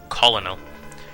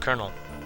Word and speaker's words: Colonel: when I was I thought it was just colino found out years later oh it's pronounced colel not my fault I mean I see it